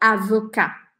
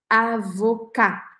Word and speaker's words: avocat: por exemplo advogado em francês a gente fala avocar avocar sem falar o texto deixa a boca aberta